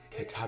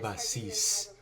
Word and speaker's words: Katabasis: So I don't know about you, but I am very excited to see if Katabasis lives up to the hype. She says it differently. Pronounces it Catabasis. Catabasis.